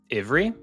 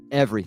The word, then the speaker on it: every: If I was going to do it, every. Not Avery, every. Ivry. Like Evan, every.